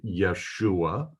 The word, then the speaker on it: Yeshua: This is the first letter in the name Yeshua. His name starts with a Y and not a J. There's no J sound in Hebrew.